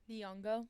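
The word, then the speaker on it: Nyong'o: Nongo. Niongo as Helen of Troy.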